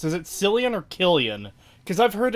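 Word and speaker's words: Cillian: is pronounced is it selan or Killian because I've heard it both ways I'd assume it's Killian like if it was spelled with a K but spelled with a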